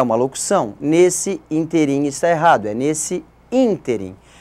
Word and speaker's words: ínterim: intervalo intervalo de tempo é chamado também de ínterim e não ínterim nesse ínterim é uma opção nesse ínterim encerrada nesse ínterim é